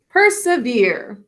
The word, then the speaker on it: persevere: Basically, but we're actually going to put a thinking cap on the E since it's an unstressed syllable. We say persevere.